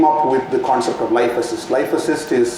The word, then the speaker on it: LifeAssyst: and we came up with the concept of Life assist life assist is spelled with the y l i f e